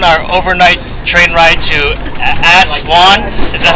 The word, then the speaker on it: Aswan: Okay, we are on our overnight train ride to Aswan.